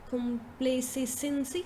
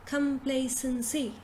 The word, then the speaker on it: complacency: have is this now so how do we pronounce this again instead of saying compliancy complacency something like this you say complacency come play sensei so you say call first